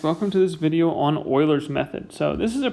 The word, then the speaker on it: Euler: is pronounced like it like it might be pronounced euler that's how it's spelled but it is actually pronounced like i'm doing it euler like that's how you want to pronounce euler's